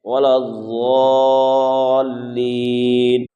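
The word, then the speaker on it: الضَّالِّينَ: کو درست کرنا ہے۔ عام طور پر لوگ اسے دالین یعنی دال سے پڑھتے ہیں، یہ پڑھنا غلط ہوگا۔ تو جو صحیح تلفظ ہے وَلَضَّالِّينَ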